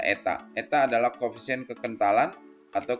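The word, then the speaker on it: η: Sehingga gaya stok untuk bola ya yang jatuh adalah 6 PR V kali ini dibacanya eta.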